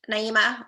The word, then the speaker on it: Naheemah: legacy while liberating soul care and guilt-free rest naima welcome to the show oh thank you darlene and you did perfect you pronounce my name perfectly nailed it it's one of those things i was just telling naima i was like man it's so hard sometimes